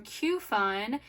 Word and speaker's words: Qfun: a new product from Q Fun. It is spelled exactly how it sounds. It's Q fun.